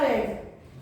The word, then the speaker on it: read: Form क्या होती है, रीड ही लिखते हैं, लेकिन इसका प्रोनाउंसिएशन, इसका जो उच्चारण होता है वो होता है रेड। लिखा तो नहीं जाता RED, लेकिन उच्चारण होता है इसका रेड।